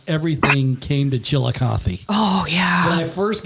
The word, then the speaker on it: Chillicothe: You can always tell when you bump into somebody, no matter where you're at, and they pronounce it correctly. Yeah. Chillicothe.